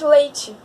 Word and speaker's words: leite: nacional não é mas quando nós vamos pronunciar a palavra leite nós falamos leite com i no final perceberam isso então isso